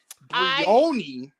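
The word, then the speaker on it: Briony: Brioni? Yes, that's her name. That's how it's pronounced in the movie.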